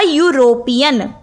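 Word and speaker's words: European: अ यूरोपियन, यूरोपियन, यूरोप भी ई से शुरू हो रहा है, वॉवल साउंड से शुरू हो रहा है, लेकिन इसकी प्रोनाउंसिएशन क्या है? यू।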